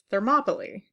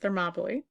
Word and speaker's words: Thermopylae: at the Battle of Thermopylae that's how this complicated word is pronounced there mably this gave Athens valuable